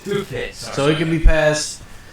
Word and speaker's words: Hubei: It's pronounced Hubei.